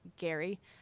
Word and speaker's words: Gerry: is the word gerrymandering which we pronounced wrong because he pronounced it Gary I guess it's the